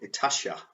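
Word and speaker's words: Itatiaia: So then we head off from the midpoint of the journey to a place called Itasha. That's how you pronounce that.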